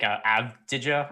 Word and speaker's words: Avdija: One note I did see is that Denny, and I'm so bad at pronouncing his last name, first round pick, Avdija, I think is how it's pronounced.